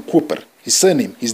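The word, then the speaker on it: Kooper: war of national resistance i said simon krupner but his name is simon cooper his surname his name is simon his name is cooper captain simon cooper who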